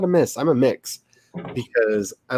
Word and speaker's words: Mx: sure then not non-binary it's mr miss and mix is mx is the commonly used non-binary term and i actually like it pronounced mix i like that so